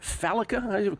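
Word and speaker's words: Fallica: But in studio today, Chris, how do you pronounce that? Felica. Chris Felica.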